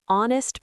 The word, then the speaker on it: honest: An hour, an honest person, an honor. These are the most common silent H words.